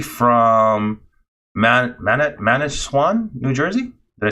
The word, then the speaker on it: Manasquan: from Manasquan, New Jersey. Did I say it right? Yeah, Manasquan, New Jersey.